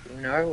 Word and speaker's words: Uno: I've got one card left, but Uno apparently is the proper way to pronounce it, and such things.